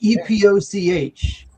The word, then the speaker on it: Epoch: E E P O C H. Epoch is how it's pronounced.